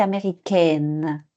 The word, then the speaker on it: américaine: nasal son orienté américain mais pour ma féminin c'est américaine donc c'est plus nasal ce n'est pas nasal congolais congolaise sil y